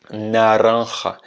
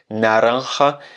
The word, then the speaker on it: naranja: Naranja. Plus tu vas ouvrir la bouche, plus tu vas avoir des facilités pour le prononcer.